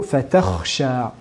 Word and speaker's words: فَتَخْشَى: Dans le verset numéro 19, nous avons le mot fatakhsha. Souvent, on entend une prononciation différente. La lettre kha est transformée en lettre reyn, qui sont deux mots différents qui ont chacun leur propre sens.